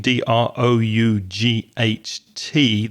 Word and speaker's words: drought: D r o u g ht. The vowel sound is like now or how.